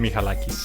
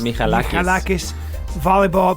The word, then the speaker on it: Michalakis: Michalakis. Michalakis.